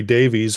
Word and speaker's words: Davies: I pronounced it Ray Davies, by the way, for decades Yeah, I've until heard I was that. told it was Ray Davis. And then I hear that he pronounced it Ray Davies and Dave pronounces it Dave Davis.